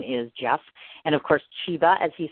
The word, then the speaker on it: Chiba: And, of course, Chiba, as he said, and that's spelled C-H-I-B-A, and, S-T-E-A-R-N-S.